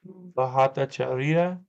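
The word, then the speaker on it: Bhattacharya: I even pronounced the H, the Bahat, instead of just going, because like in English we would kind of use that as a silent H and it'd be like Bahatacharia, Bahatacharia.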